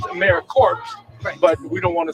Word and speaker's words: AmeriCorps: word yes so it's in its if you pronounce it it's americorps but we don't want to say that so